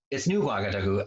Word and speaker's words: Ouagadougou: For some reason, every time I try to think of the capital, Ouagadougou, it's new Ouagadougou, and when I hear it pronounced, it has that gua at the beginning of it, but it looks like Ouagadougou.